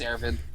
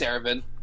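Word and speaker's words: Erwin: Faye Valentine easiest it's it's airfin Ervin yeah yeah it's Ervin it's Aaron Faye's a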